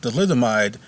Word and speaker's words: thalidomide: First of all, it's pronounced thalidomide, and it's a good question.